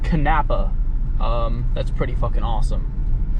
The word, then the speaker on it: Kanapaha: arrived by the way it is pronounced kanapa um that's pretty [